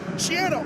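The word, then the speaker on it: Schiano: partner, I thought you were going to emphasize the Shiano thing right at the beginning. We learned right before kickoff. Shiano rhymes with piano.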